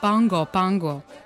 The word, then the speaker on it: Pago Pago: The capital Pago Pago, which the locals pronounce as Pango Pango, is located on the largest island – Tutuila.